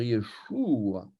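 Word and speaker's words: ישוע: On va dire Yeshua. Et les Anglais vont écrire Yeshua avec un U, mais ils vont prononcer OU.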